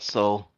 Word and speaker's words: SOEL: Is that the right pronunciation? Yep, that's right. And uh to to abbreviate it, just call it Soul.